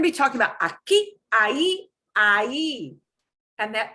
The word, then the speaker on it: ahí: They're going to be talking about aquí, ahí, ahí. And that H, silencio. No se pronuncia. You do not pronounce the H in ahí.